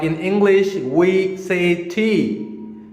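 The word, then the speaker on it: ث: What you have to do is put your tip of the tongue in front of the above teeth, front teeth, and try to pronounce it like sa. Sa. Just put your tip of the tongue on your front teeth and try to pronounce it like sa. It sounds like sa.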